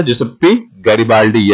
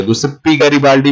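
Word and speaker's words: Giuseppe Garibaldi: जुसेप्पी गैरिबाल्डी, या गुसेप्पी गैरिबाल्डी भी कहते हैं इसे, जुसेप्पी गैरिबाल्डी भी कहते हैं, जो आपको बेटर लगे वो प्रोनाउंस कीजिए।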